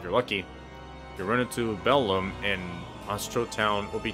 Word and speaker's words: Belome: Take care to pronounce the O correctly. Belome.